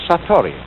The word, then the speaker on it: satori: In Japanese, in Zen, it is called Satori.